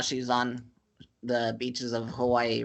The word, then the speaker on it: Hawaii: So in 2012, we had gone to Hawaii. That's how the locals say it.